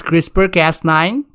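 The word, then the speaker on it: CRISPR-Cas9: how you write it the pronunciation is crispr cast 9 the full form of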